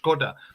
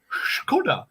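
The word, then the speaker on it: Škoda: on my nipples because it's meant to be pronounced Skoda, but you got some Scottish woman. This is no offense, Lois, going Skoda, and it's just like shut up.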